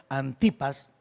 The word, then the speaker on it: Antipas: testigo fiel creo que lo correcto sería pronunciarlo antipas dice ustedes han permanecido